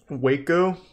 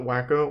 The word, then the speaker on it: Waco: very much about it waco is that what it's called that's how you say it it's not wacko whatever it doesn't matter